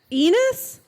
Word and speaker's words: Enos: held up the lantern enos it rhymes with penis what how i work